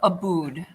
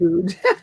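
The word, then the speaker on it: Abboud: I don't, but just so you know, the other one is Joseph Aboud. That's how you pronounce it. Aboud.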